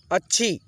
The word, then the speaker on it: अच्छी: ठीक है, उच्चारण करते हुए प्यार, प्यार, अच्छी, च को छ के साथ में तेजी से उच्चारण करते हुए चलेंगे जल्दी से, अच्छी, तख्त, तख्त, तखत पढ़ेंगे तो गलत हो जाएगा।